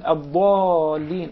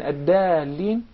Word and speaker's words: الضالين: Imagine changing the dad into dal has actually changed the meaning into its opposite. Yes. So that's why we call it, this is an obvious mistake.